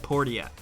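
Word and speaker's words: Portia: number 9 let's talk about my time at port yet yes that is actually apparently how it is pronounced we made sure the elevator pitch for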